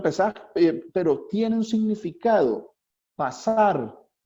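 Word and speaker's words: פסח: Se escribe Pesaj, se pronuncia Pesaj, pero tiene un significado.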